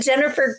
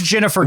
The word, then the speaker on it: Ginnifer: And then Ginnifer Goodwin, except it's Ginnifer. Is that how you pronounce that? I think it's a soft G in her first name. I've heard the most correct pronunciation. It is Ginnifer Goodwin.